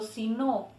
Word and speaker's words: si no: En cambio, cuando si no es condicional, cuando si no está separado, se escucha si no.